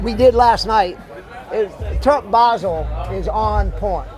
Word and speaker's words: Basel: So is it Terp Basel? Basil? I pronounce it Terp Basel.